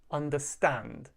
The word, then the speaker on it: understand: With verbs, we stress the final syllable.